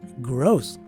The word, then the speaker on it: gross: see that the letter O here has a macron sign on top of it. And the macron sign always indicates a stretched out letter, which means to say that the letter O here is a long O and not a short O as most of us are pronouncing this word. So with a phonetic spelling as our guide, this word is pronounced as gross.